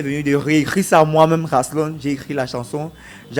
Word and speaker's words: Raslon: Là, je le disais en début d'entretien, mon cher Rasslon, c'est comme ça on prononce? Oui, Rasslon. Voilà.